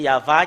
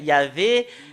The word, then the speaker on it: Yahvah: confirme ce terme que c'est Yahva qui est le vrai. Yahvé n'est pas dans dans l'alphabet juif ancien.